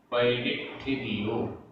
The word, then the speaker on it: पयडिठिदियो: सव्वे पयडिठिदियो, पयडिठिदियो सब में छोटी की मात्रा है, पयडिठिदियो आधा ठ छोटी की मात्रा, पयडिठिदियो अणुभाग पदेश बंध ठाणाणि, अणुभाग पदेश बंध ठाणाणि।